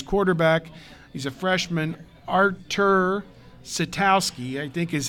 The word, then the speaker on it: Sitkowski: This quarterback, he's a freshman, Artur Sitkowski, I think is how you pronounce his name, Sitkowski, from right there in New Jersey, right near Rutgers.